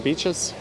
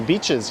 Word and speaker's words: Beaches: half of them don't if you go to the beaches you'll find a weird small percentage of them won't pronounce the ES despite the fact that's clearly written b-e-a-c-h-e-s in the official neighborhood name am I over the